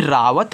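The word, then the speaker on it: Rawat: से आप वा बनाओगे ए साइलेंट रहेगा और टी से आप यहां पे त बनाओगे तो ए लिखा है रावत मानते आपने गलती से यहां भी आ का मात्रा लगा दिया तो आपका रावा तो हो गया लेकिन आपने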